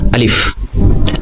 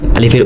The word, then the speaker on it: আলিফ: আরবি হরফ 29টির মধ্যে সর্বপ্রথম যেটি হচ্ছে সেটি হচ্ছে আলিফ। আলিফের উচ্চারণ হয় আ। আলিফটি একদম লম্বা দাগে লেখা হয়, এর উচ্চারণ স্বাভাবিকভাবে হবে আলিফ।